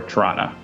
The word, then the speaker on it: Toronto: like uh the amount the amount that you pronounce Toronto depends on how far away from Toronto you live in Canada so if you live in Toronto you will probably say k do or torana uh but if you're